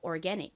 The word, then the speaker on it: organic: 자, 한국식 발음으로 오가닉, 미국식 발음으로 organic.